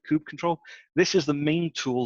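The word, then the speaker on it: kubectl: second from last one there is Kubb control could cuddle could cuddle however you want to pronounce it Ice Cube CTL I call it coupe control this is the main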